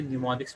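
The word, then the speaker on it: mnemonics: इसे आपने न्यूमोनिक्स पढ़ना है, एम इज साइलेंट है।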